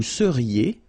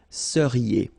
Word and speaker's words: seriez: Vous seriez. So here when you've got this Z at the end, then you get the sound E, seriez.